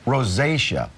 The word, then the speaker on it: rosacea: Rosacea? Rosacea.